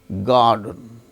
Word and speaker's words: garden: So, R is followed by the sound D in the word garden.